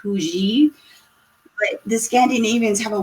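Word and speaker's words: hygge: It looks like huggy, but it's supposed to be pronounced huji.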